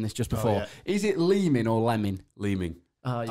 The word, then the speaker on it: Leeming: playing, and I swear a commentator said Lemon, and I was like, are you sure, fella? Yeah. And then you said it's spelt Leeming, so it must be Leeming.